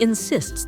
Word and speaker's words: insist: sentence is in she insists that he come she insisted that we go to Disneyland remember to stress the word on the second syllable insist I insist that she